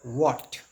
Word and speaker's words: what: That pronociation is not so well right currently we pronounce this word what ව නෙමෙයි දැන් ගන්නේ නමුත් පරණ කට්ටිය ගොඩක් දැන් හුරුව තියෙන්නේ වට් වට් කියලා.